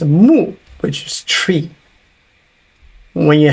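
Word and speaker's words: 木: It's pronounced mu, which is tree.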